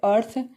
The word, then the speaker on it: earth: ई का उच्चारण क्या आ रहा है? अ आ रहा है। नेक्स्ट है अर्थ, EARTH, अर्थ।